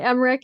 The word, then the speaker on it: Emmerich: So all right, Emmerich, did I say it right? That's all right. Emmerich, it's okay.